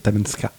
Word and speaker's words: Talkeetna: Comment La vraie prononciation, c'est Talenska. Talenska. Non, mais il le fait bien, Ouais, j'avoue. c'est taplon d'enculé. Peut-être qu'en fait, il connaît. Non, pas du tout. Talkeetna.